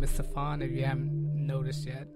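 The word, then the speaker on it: Sophon: okay so let's get started my name is safan if you haven't noticed yet it's spelled s o p h o n uh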